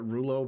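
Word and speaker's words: Rouleau: to roughly which I I'm hearing Rolo. I call it Ruo because that's the French kind of uh pronunciation, but Rolo uh and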